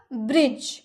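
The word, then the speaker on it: bridge: sign चमकना change बदलना ब्रिज अभी हम लोगों ने देखा ना ब्रिज इसके लास्ट में भी इ है लेकिन इ का उच्चारण हुआ नहीं हुआ जी का ही सिर्फ उच्चारण लास्ट में हुआ ब्रिज pool have have has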